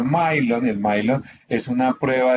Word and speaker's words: Millon: el milon el millon porque se escribe millon no se pronuncia milon el milon es una